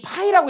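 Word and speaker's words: Φ: 우리 파이라고 읽어 얘를 파이라고 읽습니다.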